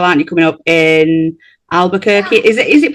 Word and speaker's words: Albuquerque: Coming up in Albuquerque. Is it Is it pronounced Albuquerque?